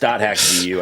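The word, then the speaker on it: .hack//G.U.: Yeah, I think it's just the slash is silent. Yeah, it's just .hack GU, I think is how okay.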